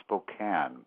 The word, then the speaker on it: Spokane: it looks like it's Spokane but it's actually pronounced Spokane a lovely town in eastern Washington and you